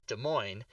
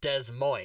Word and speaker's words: Des Moines: second word MOINES, and in Ohio, it is in Iowa, it's pronounced Des Moines, and in Washington, it's pronounced Des Moines.